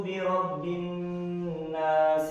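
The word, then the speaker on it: بِرَبِّ النَّاسِ: Qul a'udzu birabbin nas. Oke. Tadi kita sudah mendengar secara bersama-sama ketika binnas ditekan dulu, kemudian nasnya itu panjang, jadi mad arid disukun.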